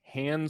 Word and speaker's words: Han: George Lucas is adamant that it is Han Solo. And we all call him Han Solo. All of us do. And in the movie, multiple characters call him different things. Some call him Han, some call him Han.